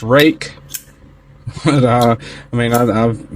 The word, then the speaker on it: Ruike: rake R UI ke is apparently you know pronounced rake but uh I mean I've been calling them Reich until I really looked into this particular knife